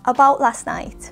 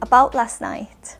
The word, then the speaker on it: about last night: spoken and natural English we often don't pronounce the T sound at the end of the word about and last so it's not about